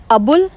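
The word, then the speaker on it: Abul: The full name of doctor APJ अब्दुल Kalam was अबुल पकीर जैनुलब्दीन अब्दुल कलाम. सो जो पहले लिखा हुआ है स्पेलिंग वो अब्दुल है, पर उसको हम बोलते हैं अबुल.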